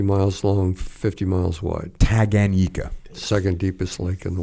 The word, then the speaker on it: Tanganyika: giant Lake how do you say that Lake Tanganyika taganyika so Tagan yika I'm gonna brutalize that one 450 miles long 50 miles wide tag Anika second deepest lake in the world and it's